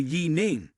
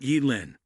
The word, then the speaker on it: Yi Ning: My name is actually Yi Ning, not Y Lin.